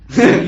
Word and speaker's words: Segue: It's spelled Segue. Segue.